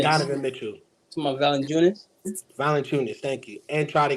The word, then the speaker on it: Valanciunas: Valanciunas, thank you.